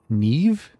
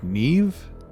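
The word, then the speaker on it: Niamh: TV that is and the name neam Niam is pronounced Neeve I think it's Neeve so yeah I butchered it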